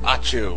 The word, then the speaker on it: Ochu: And we're going to battle the optional boss, Lord Ochu. Achu, whatever. It's pronounced Ochu in this.